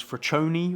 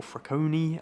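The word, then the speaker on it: Freccione: And the other nickname is Fraccione, or Fracconi, however you want to pronounce it, which is Italian for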